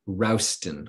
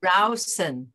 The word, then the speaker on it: Rowson: Um One of my favorite is Jonathan Rowson, r o s r o w Rowson, s t o n. He wrote a a a a article called Tasting the Pickle. Tasting the Pickle. So, that's a that's pretty memorable. Uh so, you can take a look at that. Jonathan Rowson. Rowson, Rowson, okay.